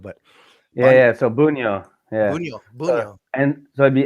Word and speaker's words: Bunjo: I I knew like your last name was bonjo but yeah yeah so bunyo yeah and so it'd be buno but